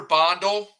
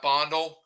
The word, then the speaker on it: Bandelj: Peter Bondel. I had to do some digging there. Spelled Bandelj, but Bondel, I believe it's pronounced Peter Bondel from Cal Poly.